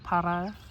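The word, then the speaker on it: Parra: Para de, and I know I was supposed to roll that R, y'all don't have to forgive me. Para, there we go, de camotes, I want to say is how you say it.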